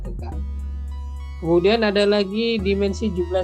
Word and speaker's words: theta: Kemudian dimensinya dalam bentuk theta ya, ini bacanya theta.